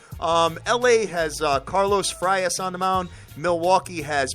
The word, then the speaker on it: Frias: uh Frias is that how you say it Frias Frias yep Frias fires is 2- 0 this